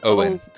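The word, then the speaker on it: Oein: Or Owen. It's O E I N. I think it's pronounced like o like like coin without the c o.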